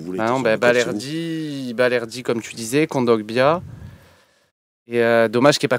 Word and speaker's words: Kondogbia: Kongogbia... Qui ça? Balerdi, Kongogbia. Kondogbia. Jamais réussi à le prononcer. C'est bon. Kondogbia.